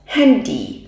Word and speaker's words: Handy: นะ คะ does handy ตัว นี้ of non ตรง นี้ นะ คะ เรา รู้ ได้ เลย ว่า ไม่ ใช่ ภาษา อยู่ มัน แน่ ๆ นะ คะ เพราะ ฉะนั้น ตัว นี้ ออก เสียง เป็น ดี้ นะ คะ Hand Love โหล